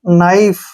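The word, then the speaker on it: knife: एफ ई इसको कनाढ़े नाइफ क्योंकि के यहां पर साइलेंट रहेगा एन से पहले नाइफ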